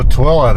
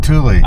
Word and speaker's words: Tooele: So, Tilla, that's how you pronounce it. I was calling it Tulie.